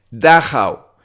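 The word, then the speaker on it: Dachau: por los alemanes fue dao se deletrea d a c a u y creo que se pronuncia así este campo de concentración se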